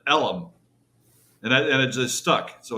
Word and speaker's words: Deep Ellum: now right and the the actual real name of the area is called deep elm e-l-m but they pronounce it ellum and it just stuck so it's called deep ellum way back even way